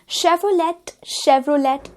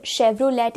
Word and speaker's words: Chevrolet: शेवरोलेट ये भी एक गलत प्रोनाउंसिएशन है। Car brand शेवरोलेट is wrong, it's actually शेवरोले।